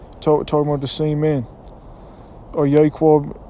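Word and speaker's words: יעקב: Yaquab, Yasharal is how you say Jacob and Israel in the Hebrew.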